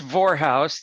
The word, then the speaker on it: Vorhaus: for when we do and please meet John Bor did Bor did I sound say that correctly H you're in the ball correctly for it's vorous that rhymes with well never mind it's easy